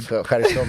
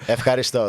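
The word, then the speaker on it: ευχαριστώ: Efcharisto, that's it. Is there a weird roll? Not weird. Is there a roll in there? Efcharisto, yeah.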